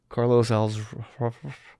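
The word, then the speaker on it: Carlos Alazraqui: Bridges' voice for certain scenes, they brought in Carlos Alzraqui. Who's that? Reno 911. Oh, yeah, okay. I'm probably saying his name wrong. How do you say it? Carlos Alzraqui.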